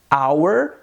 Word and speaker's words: hour: caso é diferente compare hour não temos o som do h ele é mudo